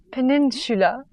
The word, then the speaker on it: peninsula: Peninsula. Peninsula. Peninsula. Not Shula, Sula.